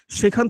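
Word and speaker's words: ث: সা হচ্ছে খুবই গুরুত্বপূর্ণ একটা হরফ, কারণ এটা উচ্চারণ অনেকের হয় না। এই দেখুন জিহ্বার যে আগাটা আছে, জিহ্বার আগাটা সামনের উপরে দুই দাঁতের আগার সঙ্গে লেগেছে এবং ঠোঁট কিন্তু ফাঁকা থাকবে। এবং এটা উচ্চারণ করার উপায় হচ্ছে আপনি সামনে এভাবে হাত দিবেন, সা। সাটা যখন বলবেন, জিহ্বার আগাটা সামনের উপর দুই দাঁতের আগার সঙ্গে লাগিয়ে, তখন কিন্তু একটা বাতাস বের হবে।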